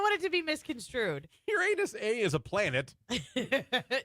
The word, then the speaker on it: Uranus: Uranus A is a planet. No, So it's pronounced Uranus if you ask scientists. Uranus.